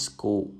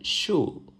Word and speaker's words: school: Though, please remember that school is always school and is never a shul.